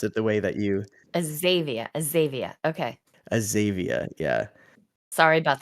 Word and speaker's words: Azavea: And ended up at Azavea. So many many people pronounce it the way that you Azavea.